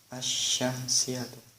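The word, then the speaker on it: الشَّمْسِيَّةُ: membacanya adalah diidghamkan, yaitu lamnya tidak terbaca, langsung masuk kepada huruf shin, dan shinnya diberi tanda baca tasydid. Cara membacanya ada asyamsiatu.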